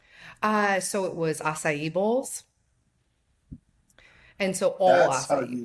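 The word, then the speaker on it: açaí: I thought it was a thigh. Yeah. Yeah. Acai.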